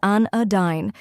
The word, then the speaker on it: anodyne: pronounce it with confidence the correct pronunciation is an aine let's break it down first we have an which sounds like an in and next is uh which sounds like the U in sofa finally dine which s with wine